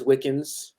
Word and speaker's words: Wickens: what I mean um my last name is wiccans not so like not spelled like Wiccan but it's close enough and um somewhat ironically